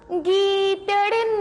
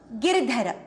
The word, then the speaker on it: गिरधर: मीरा के प्रभु गीदड़ ना गिर. गीदड़ नहीं, गिरधर.